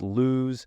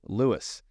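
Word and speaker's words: Lewes: l-e-w-e-s is not pronounced lose and it's not pronounced luez it's Lewis just like your uncle Louis or the name Lewis it's pronounced Lewis there's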